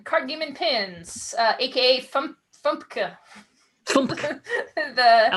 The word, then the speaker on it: FUMPKA: First on our list is Fairy, Unicorn, Mermaid, Princess, Kitten, Card Game and Pins, aka Fumpka. I like it. The pronunciation-friendly acronym FUMPKA, if you don't want to say all of the words at once.